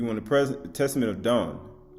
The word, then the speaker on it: Dan: is unraveling for you don't press send right so as we move forward Testament Testament of Dan so you want the present Testament of dawn right if you want to pronounce it right Don it's H1 h135 12